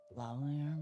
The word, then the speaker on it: lavalier: don't understand what this means or how to pronounce it or anything. lavalier microphone.